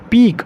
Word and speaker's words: pique: एक होता है पीक, उसकी स्पेलिंग क्या होती है, PEAK, पीक मतलब होता है चोटी, ठीक है।